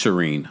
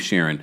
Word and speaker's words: Shireen: understandably oh Alex yeah it's Shireen I don't know why I keep sharing can I just call